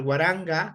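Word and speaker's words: waranka: Y bueno, llegamos al guaranga, que se escribe con K, pero se pronuncia como la G de gato.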